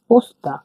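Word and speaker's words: пошта: এটা ও এই অক্ষরটা এই অক্ষরটাকে আমরা এস উচ্চারণ করি ঠিক আছে তাহলে কি হল পটি এটা পস্তা পস্তা মানে ডাকঘর।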